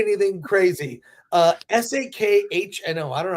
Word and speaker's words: Sakhno: And the woman who plays Amelia, Ivana Sagno, is that her name? No, but you were getting close to something great. I did not say anything crazy. Sakhno.